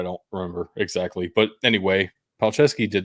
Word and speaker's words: Palczewski: ridiculous right because it's polish it just that's palcesky what else are you gonna call it noiskey